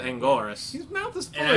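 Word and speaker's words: Anguirus: He says Angelus when it's Angoras.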